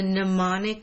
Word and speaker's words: mnemonic: says what is the mnemonic device this is a weird word the M is silent mnemonic device that helps